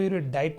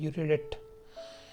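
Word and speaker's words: erudite: इरियोडिट, इसको इरियोडाइट नहीं पढ़िएगा, पर सही प्रोनाउंसिएशन इसका होता है यूरिडिट।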